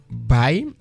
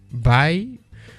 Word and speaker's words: bei: Il y a la préposition bei qui s'écrit B-E-I. B-E-I. Bei. by.